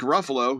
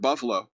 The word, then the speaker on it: Ruffalo: Simmons then marked Ruffalo, whom he pronounced as Mark Buffalo, for frequently voicing his opinion on politics before reiterating, I don't care.